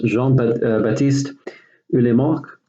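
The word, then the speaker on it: Jean-Baptiste Lamarck: naturalist named aquila this Roy jean that east pronounced Jon batiste early mark okay you basically spent many years spent many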